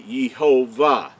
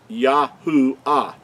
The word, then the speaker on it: Yahuah: that you understand that the Creator's name could not be yehovah it's yahua now where the third